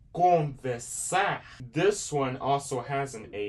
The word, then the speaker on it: conversar: Now, if you're saying conversar, this one also has an AR.